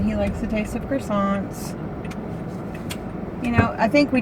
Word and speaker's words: croissant: But give you a bagel or a croissant. Croissant. We say it like French. Croissant. Don't they like spit at you?